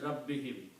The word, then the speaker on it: rabbihim: And Rabbin and whom will be pronounced as Rabbihim. When you combine Rabbin and whom, it will become Rabbihim.